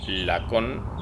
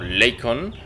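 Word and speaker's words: Lakon: nave, en este caso es Lacon o Leycon, como se pronunciaría en inglés.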